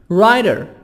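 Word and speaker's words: writer: a group public general Ryder Ryder W silent T sub D Ryder Ryder a person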